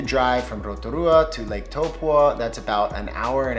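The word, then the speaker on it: Taupo: way down past Lake topa looks like Tao it's pronounced toe paw like a toe and a dog paw I still struggle with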